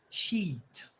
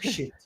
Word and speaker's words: sheet: Sheet, não shit. A pronúncia foi boa porque você fez um movimento muito bom. Sheet. Sheet. Double E, então é quase como se você fizesse, você alonga o som I.